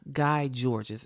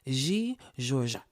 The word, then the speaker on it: Guy Georges: Americans looking at this, Guy Georges is what his name looks like. But that is not how it's pronounced in French. It is G. Georges.